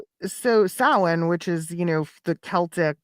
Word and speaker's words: Samhain: Sam, I don't know how to say the name, but It's Samhain.